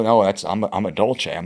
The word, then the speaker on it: Dolce: you know, family and I was like, "Oh, no, that's I'm I'm a Dolce. I'm not a Doulce." Yeah. Like that word doesn't even exist, right? It's it's a Dolce.